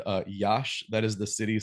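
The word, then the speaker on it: Iași: in front of them when I said uh, Yash, that is the city spelled I ASI, which I initially thought was spelled or pronounced Yasi, but yeah, I don't speak Romanian obviously.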